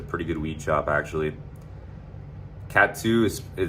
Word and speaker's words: Kathu: Cat 2 it's inland of Patong, 10 minutes east of Patong, and it's spelled like Kathu, like Kathu, yeah, Kathu.